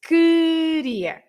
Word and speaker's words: queria: But if you say QUE, for example, like queria, you write QUE. You don't pronounce the U, right? It's queria. You don't pronounce the U.